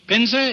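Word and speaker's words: Pinza: old which brings us to Mr uh uh Piner is is that the way you pronounce it that is right right AO pin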